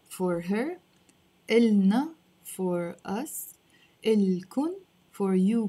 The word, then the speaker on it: إلهن: And إلن, again, without pronouncing the ha, it's not إلهن, it's إلن. Of course, if you say إلهن, it's not wrong, but we tend to pronounce it in Lebanese without the ha.